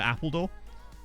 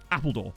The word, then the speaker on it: Appledore: Used to go there a lot as a kid because it was near Appledore.